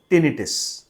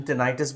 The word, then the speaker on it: tinnitus: तो जी हाँ, इस आवाज़ को हम बोलते हैं टिनिटिस। बहुत सारे लोग प्रोनाउंसिएशन टिनाइटिस भी करते हैं। टिनाइटिस या टिनिटिस चाहे वो कंटिन्यूस हो सकता है या रुक रुक के आ सकता है।